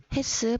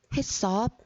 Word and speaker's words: HACCP: 이거를 읽기 어려워하는 학생들이 많아서 어떻게 읽어야 하는지 보겠습니다. 햇습 혹은 햇섭이라고 읽고요. 학습지에도 햇섭 적어주세요.